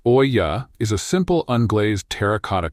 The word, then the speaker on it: Olla: An Ola, pronounced Oya, is a simple unglazed terracotta clay pot.